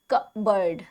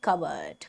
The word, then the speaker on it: cupboard: ठीक है, तो इसका कप नहीं, पी जो है वो भी साइलेंट हो जाता है. इसमें दो चीजें साइलेंट है. ठीक है, तो कप बेशक से है इसमें, लेकिन इसका पी जो है जनरली साइलेंट होता है. एंड द ओ is also not emphasised, making the pronunciation a breezy. कवर्ड.